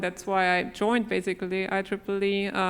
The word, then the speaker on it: IEEE: is Claire Neville I'm the senior director of I Triple E that's how it's pronounced this Institute of Electrical and Electronics Engineers